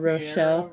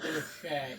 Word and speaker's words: Rocher: Yeah, those um Fiero Rochelle Rocher.